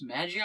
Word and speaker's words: Magi: i watched this and i said maggie and they pronounce it like that but it's really supposed to pronounce magi well i know but